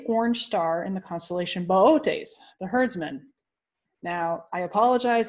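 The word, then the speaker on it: Boötes: Because one of the O's in Bootes has umlauts on it. It's not booties, as many people often pronounce it.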